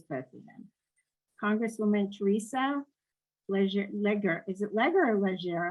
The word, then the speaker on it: Leger: So it's Leger, actually. But it is Leger. That's how I wanted to pronounce it the French way. Leger Fernández.